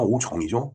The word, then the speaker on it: 오정: 그걸 우리가 어려서 오종 본다고 그랬어요. 오종. 근데 오종이 아니라 오정이죠. 정확한 발음은.